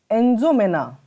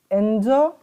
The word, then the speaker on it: N'Djamena: So the capital of Chad is N'Djamena. The capital is N'Djamena. So here D is silent. Remember, the capital of the Chad is N'Djamena.